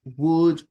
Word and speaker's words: would: No se lee como se, no se pronuncia como se lee. Would. La L es muda, la O es muda. Would. Es como si fuese W-U-D.